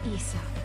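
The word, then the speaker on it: Isa: Call me Issa. Issa. There we go. Okay, that's how you pronounce that.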